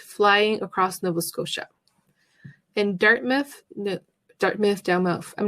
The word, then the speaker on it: Dartmouth: In Dartmouth, I'm not sure how to say it.